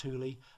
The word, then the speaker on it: Thule: the two bags of our Thule it is pronounced Thule Panorama room to make a full awning under